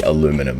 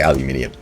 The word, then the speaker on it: aluminium: that path aluminum aluminium do you guys in America spell it aluminum or you just say aluminum but it's actually spelled aluminium we say aluminium all right that is